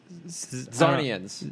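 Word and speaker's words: Czarnian: Zarnians. Yeah, he's a Zarnian. C is silent.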